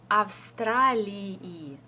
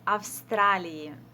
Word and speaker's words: Австралии: So in this case, you need to pronounce both of them. Из Австралии. But we pronounce it quite quickly, so из Австралии.